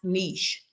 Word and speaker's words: niche: All you have to type in is how do you pronounce niche? N I C H E is how you spell it, but it is pronounced niche.